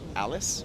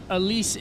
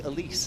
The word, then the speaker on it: Alice: with 2.67 I guess I can say Alice or I can say Alise that's French I think if you're in California pronounce it Alice but you know what I think Alise is the way that